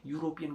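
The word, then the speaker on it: European: EU is starting from you, that is J, that is ए। तो अ यूरोपियन होगा, अ यूरोपियन country, N यूरोपियन country, we कैन नॉट say that N यूरोपियन country, ठीक है ना। ई यूरोपियन country मत बोल देना, ऐसे यूरोपियन country होता है, ठीक है।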